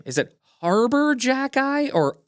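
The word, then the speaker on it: Arber Xhekaj: Is it Harbor Jackeye or Arbor Jackeye?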